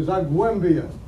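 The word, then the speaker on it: Zagłębie: You pronounce it though, Zagwembia.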